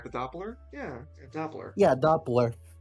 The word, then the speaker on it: Doppler: The Doppler.